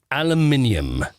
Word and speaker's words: aluminium: ALUMINUM. ALUMINUM. That would be aluminium. All right, now you're adding about 6 syllables there that you don't need.